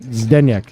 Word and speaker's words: Zdeněk: Why is Zdeněk and not Zdeněk or Zdeněk? Because that's how he pronounces it. He taught me. I know now. Official Czech speaker. He pronounces it Zdeněk. I think the Z and D are like one letter.